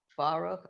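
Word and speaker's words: ברוך: for baroque okay lynette baruch eloheinu baruch right it's a short vowel so it ends the syllable we're terrific i'm so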